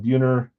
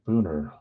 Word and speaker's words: Buhner: So you got Pache, Abrams, and Buhner for trade or sell. So Pache, Abrams, Buhner. Or Booner. Not Buhner. I don't know how you say his name.